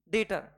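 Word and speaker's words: debtor: ये हमारे लिए क्या है, ये हमारे लिए है डेटर। ओके, डेप्टर नहीं बोलेंगे इसको, डेटर प्रोनाउंस करते हैं, creditor and डेटर, B silent रहता है, English is a funny language.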